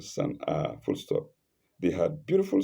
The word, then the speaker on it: Sana'a: Sana'a is spelled capital S-A-N apostrophe and A lengthened Sana'a, full stop.